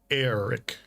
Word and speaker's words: Eric: I thought it was just Eric because it was spelled Eric, like normal, but the way that they pronounced it was Eric, like Eric. I'm like, so it's not Eric? He goes, no, it's Eric. I'm like, okay. like AIR. Eric.